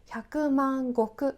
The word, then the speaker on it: 百万石: 10万100万の 100万と石という漢字を使って 100万国と読みますこの単位は特に